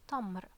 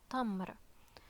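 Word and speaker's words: تمر: Here with fatha we have this word, it would be pronounced like ta, so this word is tamr, tamr, and tamr is dates,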